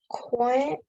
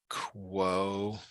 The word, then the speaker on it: quotient: The quotient is 1. Okay, good. And So then it's this is the correct spelling, and then it's pronounced quotient.